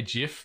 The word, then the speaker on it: GIF: this this format uh yes he does say GIF because it's meant to be like the peanut butter brand but that's Jif with a J is how they spell it but I'm a gift man not a soft G until I die I'm gonna die in